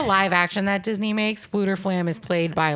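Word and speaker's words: Fflewddur Fflam: they free um this Minstrel his name is fluter flam I'm gonna spell it okay slam flam fluter flam I'm gonna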